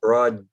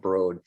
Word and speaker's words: Broad: was uh exterior the broad art museum in in uh uh lansing or broad excuse me it's pronounced broad oh and i apologize